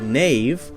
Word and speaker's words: knave: something like kanava kanava now we have a silent K so we don't say canook we say hmm no knowledge knave knives we say just hmm and we also have